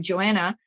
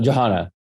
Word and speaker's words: Johanna: Like I was working with Joanna. That am I pronouncing her name correctly? Yes, Johanna. Yeah.